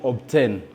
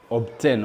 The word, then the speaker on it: obtain: Nous avons par exemple le mot obtain. Obtain. Vous voyez que la lettre B précède la lettre T. Mais dans ces mots, nous devons prononcer la lettre B.